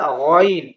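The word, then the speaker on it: غين: بھی پڑھتے ہیں، لیکن یہ گین بھی گین نہیں ہے، گا نام کا کوئی حرف ہی نہیں ہوتا عربی زبان کے اندر جس کا گا، جس کا تلفظ ہو، عربی کے اندر ہوتا ہے غائن، غائن غائن غائن غائن، بار بار اسے بولیں گے تو انشاءاللہ آ جائے گا، تین چار حرف اور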